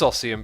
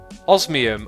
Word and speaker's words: Osmium: Lord Boza says, assume you should rename your Paxel to Ossium Paxel so you don't mispronounce it. Paxel. Why should I rename it? It already is Ossium Paxel. Osmium.